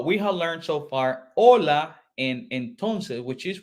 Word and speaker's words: Hola: Colombia okay and this Ola Ola this is how you pronounce it Ola H is voiceless you say Olas Ola